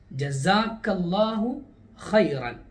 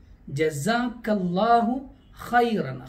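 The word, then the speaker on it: جزاك الله خيرا: ജസാക്കല്ലാഹു ഖൈറൻ ഉച്ചാരണം പ്രത്യേകം ശ്രദ്ധിക്കേണ്ടതാണ്. ഒന്നാമത് ജീമാണ്, പിന്നീട് വരുന്നത് സീനല്ല, സായാണ്. ജസാക്കല്ലാഹു ഖൈറൻ ഖ ആണ്, ഖ എന്ന അക്ഷരം തന്നെ ശ്രദ്ധിച്ച് ഉപയോഗിക്കേണ്ടതാണ്. ഇത് അറബികൾ പൊതുവെ നമ്മോട് പറയാറുള്ള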